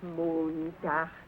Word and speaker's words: Montag: That is good, but pronounce the words broader, so Sonntag, Montag, Dienstag, yes?